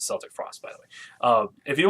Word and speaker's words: Celtic Frost: I think Celtic Frost, if you want to, and they do pronounce it Celtic Frost, by the way.